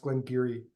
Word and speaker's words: Glen Garioch: language called dork so they don't pronounce things the way that people in other parts of Scotland do um and Glen Gary as it's spelled is pronounced Glen giri uh or it's the